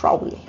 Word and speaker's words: Rowley: un monje llamado Thomas rowley ahora la pronunciación en británico Thomas rowy y este y entonces